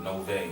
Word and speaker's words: Novej: I came up with Novej. I pronounced it, with the J being silent, and did further research and found out that Novej is actually a word that means new in Russian.